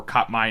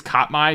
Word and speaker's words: Katmai: The National Park Service website for Katmai National Park has a full breakdown and bracket for Fat Bear Week.